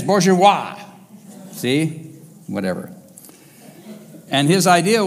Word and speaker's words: bourgeois: And he even gave them a word called Borjezizosh. I said it wrong. Borjezizosie. There it is, bourgeois.